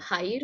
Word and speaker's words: ভাই: কথা বলি, এখানে হচ্ছে ভাইয়ের উচ্চারণটা অনেকটা আমরা স্বাভাবিকভাবে প্রচলিত ভাষায় এই এলাকাগুলোতে অনেকে বলেন বাই। বাই ভালো আছেন, আসলে উচ্চারণ হবে ভাই ভালো আছেন, এইভাবে।